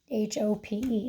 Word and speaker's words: hope: oh and this word went from hop to hope h ope hope and we mark this word okay we'd scoop it because it's still in one syllable hope ring but now we see the pattern of vowel consonant P and our oh no longer has the short sound it has the long o sound hole all right in